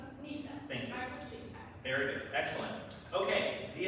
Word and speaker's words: Neysa: Looks like we're going to the next question and this one may start starts with the correct pronunciation is Nissa. Nissa.